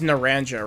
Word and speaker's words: Naranja: forget this was pronounced Naranja right or Naranja Naranja Academy this here's the entrance hall Naranja Naranja it's not pronounced with like a j you can sign up